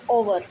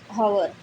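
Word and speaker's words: hour: इसमें क्या, ये ओवर ना कि हॉवर, ओवर बोलेंगे, इसमें भी एच क्या है, साइलेंट है।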